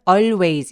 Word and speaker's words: always: she always W 그리고 always 발음할 때는 always 이렇게 L 발음 일부러 내려고 하지 마시고요 a 아고 하고 같이 했을 때 특히 L이 리을 받침 음절이 소리가 끝나는 때이 있을 경우에는 L 발음을 잘 안 합니다 그래서 always고을 그냥 무시하고 발음하시면 정확한 발음이 되세요 자 그다음 one day